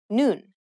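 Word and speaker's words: 눈: you read the block the bottom letter is the n sound just like the top letter combining these with the vowel in the middle you pronounce the whole block noon which means I in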